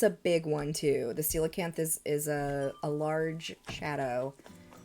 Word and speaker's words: coelacanth: necessarily like the stormy rain, but it's the coelacanth, and it's spelled very weird. But yeah, the coelacanth is the only one that you can catch during, you can only catch it during the rain.